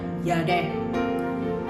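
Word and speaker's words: ידע: Ya, tulisannya Yada, bacanya Yadeh.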